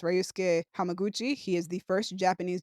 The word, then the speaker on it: Ryusuke Hamaguchi: I do want to mention, shout out to, I believe his name is pronounced Ryusuke Hamaguchi.